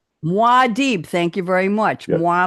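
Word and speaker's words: Muad'Dib: Eric is quoting guild agent speaking to another word I can't pronounce. Muad aka Paulad. Say it again. Madib. Muadib.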